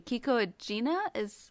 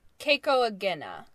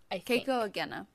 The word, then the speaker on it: Keiko Agena: I'll put on our Tumblr, but it was, let's see, Kiko Agena I'm not pronouncing her name correctly. And then the actress. I think it's Keiko Agena, Keiko Agena.